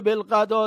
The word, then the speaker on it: بالغداة: طرف دیگ دیگه هم یک الف مقصوره بالای واو میگذارن تا واو خونده نشه و کلمه بالغداة تلفظ بشه از این نوع کلمات